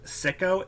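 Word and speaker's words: Sico: I'm not sure it's pronounced Sicko, S-I-C-O.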